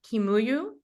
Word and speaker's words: Kimuyu: Duncan Kimuyu. Did I pronounce it correctly?